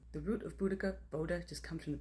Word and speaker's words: Boudica: First thing to note about Boudica is that both main biographies that we have